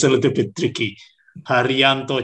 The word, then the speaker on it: Harijanto: Harijanto. So the J is silent. Harijanto.